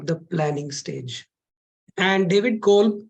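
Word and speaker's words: Kolb: this gentleman called David Cole or David Cole the B is silent an American educationist came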